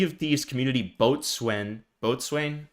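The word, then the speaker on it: boatswain: Botswain. How do you pronounce that? Bosen. Yeah, Bosen.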